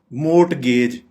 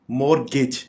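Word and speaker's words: mortgage: है receive receive receive मोट गेज यह गलत प्रोनाउंस कर रहे हैं मोट गेज इसको हम करेक्ट प्रोनाउंस इस तरह से करेंगे मोरगेज यानी एक तो हम यहां पे टी साइलेंट रहेगा और गेज नहीं कहेंगे गिज मो गिज मो गिज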